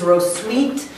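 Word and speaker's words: Hrotsvitha: without a rose Evita the wikipedia says the actual pronunciation is ro sweet is on the radar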